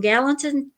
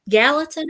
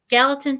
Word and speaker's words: Gallatin: the Paranormal um and from Gallant Gallatin I guess that's how you say it yes ma'am Gallatin Tennessee to Philadelphia Pennsylvania